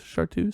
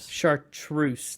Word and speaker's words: chartreuse: never pronounce that word is this chartu chartreuse there's another R chartreuse there's an r in there but then you got